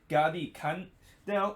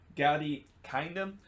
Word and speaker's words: Gadi Kinda: Now, SKC is close to sign Israeli attacking midfielder Gadi Kanda, or Gadi Kinda, if that's how you pronounce. I know when you look at it, it's probably pronounced kinda, but I think most